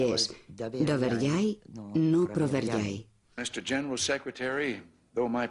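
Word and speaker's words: Доверяй, но проверяй: Entonces dije, aquí está, y es Doverjai, no Proverjai. Mr. General Secretary, though my pronunciation may give you difficulty, the maxim is Doverjai, no Proverjai.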